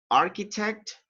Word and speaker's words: architect: look at the chat the pronunciation for those words is a architect and mechanic all right when you have the ch together in that case uh you pronounce it like letter k all right architect mechanic